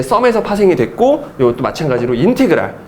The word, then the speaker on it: 인테그랄: 그래서 읽을 때는 인테그랄이라고 읽습니다. 인테그랄. 읽을 때는 S를 이렇게 길게 늘어뜨린 수학적 기호인데 얘를 인테그랄. 당연히 어디서 나왔겠니?